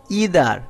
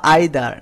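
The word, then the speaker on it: either: এর সাথে each every ইদার অথবা আইদার নিদার অথবা নাইদার এটার প্রোনাউন্সিয়েশন দুটাই হয় ইদার অথবা আইদার নিদার অথবা নাইদার মেনি এ থাকলে ভার্বটি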